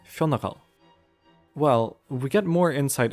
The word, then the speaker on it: Fionnghal: ends off of words, nor does the start of Fionnagal sound at all like today's Fiona.